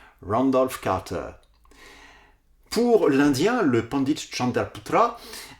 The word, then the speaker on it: Randolph Carter: Eh bien je l'ai prononcé le plus possible à l'américaine, Randolph Carter. Randolph Carter.